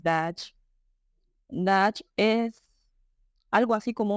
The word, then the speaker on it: daji: La pronunciación es Dutch.